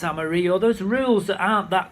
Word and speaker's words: Amarillo: Where the push is, you don't say Amarillo as in the song, it's Amarillo.